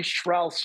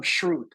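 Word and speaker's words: Schrauth: But I mispronounced Billy Schrouth's name 1, 2, 3 times. Called him Schrute.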